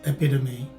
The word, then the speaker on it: epitome: the yellow highlighted text you will see that the stress is in the second syllable the letter t is